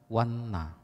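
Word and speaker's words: vana: Lalu ada tulisan yang mirip, V-A-N-N-A, polos N-nya, diucapkan wanna.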